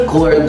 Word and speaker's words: record: stress of the word if you say it's in the first syllable then you are getting wrong because again we use the word as a verb in the sentence meaning the primary stress is in the second syllable so the setting should